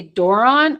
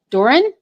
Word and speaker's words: Doran: I feel like some people might look at it and say Doron or is it Doran? Doran.